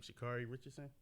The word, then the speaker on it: Sha'Carri Richardson: Sha'Carri Richardson.